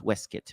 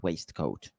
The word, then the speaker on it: waistcoat: This is pronounced waistcoat, not waistcoat. I just found out today.